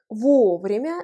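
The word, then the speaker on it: вовремя: exemples de phrases avec vos vraiment écrit ensemble l'accent tonique frappe premier royauait le haut cela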